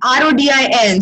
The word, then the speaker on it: Rodin: I always said Augustus Rodin because I mean Desi, but like It's R-O-D-I-N, so I don't blame you.